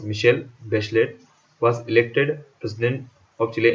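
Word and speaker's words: Michelle Bachelet: That girl मिशेल बेचलेट, pronounce मिशेल बेचलेट, was elected president of चिले इन जनवरी 2006 में।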